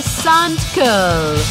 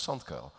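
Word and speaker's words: Sandkuijl: It's in Dutch, a U and an I means ui, and an I and a J means A, and then you try and pronounce all of that in one sentence, it becomes SandKujil.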